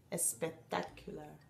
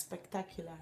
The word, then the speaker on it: spectacular: Y no se pronuncia la E. Eso es muy común, ¿no? Ese error de pronunciación para los hispanohablantes. Siempre ponen una E donde no hay. Yeah, al principio. Al principio, antes. Yeah, porque nosotros no tenemos palabras que empiezan por... con S. Entonces no estamos acostumbrados. Entonces... ponemos una E delante y decimos espectacular. Yeah, pero en inglés. Spectacular.